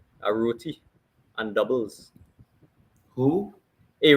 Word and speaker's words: roti: But as a Trinidadian, I'd have to stand to my roots and I would have to say a roti and doubles. Who? A roti and doubles.